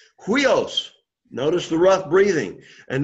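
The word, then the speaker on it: υἱός: So it's huios. Huios. Why is the accent on the second, in that second syllable, why is it on the upsilon? Because again, the accent's always going to be on the second vowel of a diphthong, okay?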